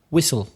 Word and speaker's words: whistle: Whistle. Did you know that silbar in Mexican Spanish is chiflar? I didn't know that. No, I didn't. Chiflar. Whistle, which also has a silent H.